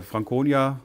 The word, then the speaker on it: Frankonia: aus dem fränkischen und frankonia hat ja einen harten konsonanten aber das wird hier ein bisschen weicher ausgesprochen muss man sagen werden